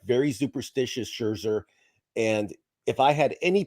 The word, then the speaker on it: Scherzer: between the two um as we know max scherzer i said it right jim so don't give